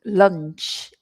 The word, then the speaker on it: lunch: And lunch, if you look at my lips, my mouth is not round. Lunch. That's the way we pronounce that one.